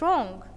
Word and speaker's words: wrong: two what's yes what's wrong okay so match two with the see and wrong here W is silent okay number three what